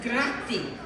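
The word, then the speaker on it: grazie: It's almost like Spanish. It's grati. Can you say grati?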